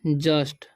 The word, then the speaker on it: just: यहाँ पर लिखा हुआ JUST, ठीक है, तो इसे यू का उच्चारण अ होता है तो इसे पढ़ेंगे हम जस्ट, ठीक है।